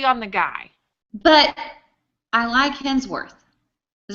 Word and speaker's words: Hemsworth: we never agree on the guy but iLike hemsworth is how you say his name yeah I